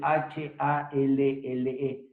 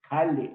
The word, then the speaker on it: Halle: La otra se escribe H-A-L-L-E, Halle o Halle.